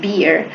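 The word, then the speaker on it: bier: So by dying young and seeing Irene on her beer uh he says that this is something the most beautiful experience that he could ever um have.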